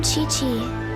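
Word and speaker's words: Qiqi: All right, and the next one is Chichi. I think that's how I pronounce her name. She's a cryo character. I am Chi-Chi.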